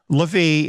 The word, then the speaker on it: Levi: Dan is removed and Levi is the one that's taking his place or levie if you prefer that pronunciation but it's interesting here